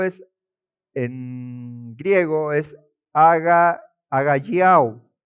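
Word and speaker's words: ἀγαλλιάω: Acá la palabra gozo es en griego es aga agalliau. Agayo, se pronuncia así.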